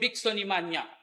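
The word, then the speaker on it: bixonimania: The disease was called bigonimania. It rhymes with pneumonia, anemia, osteopenia all these disease that have in it.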